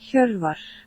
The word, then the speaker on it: Hjorvar: It's Hjorvar, I believe, Steinn Gretarsson. Very strong player. This is how you should technically pronounce it, by the way. Hjorvar.